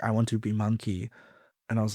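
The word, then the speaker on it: Munki: I want to be monkey. And I was like, monkey? How can I? And then I was like, let me spell it differently. So I spelled it MUN-KI. So it's Monkey von Munchkin.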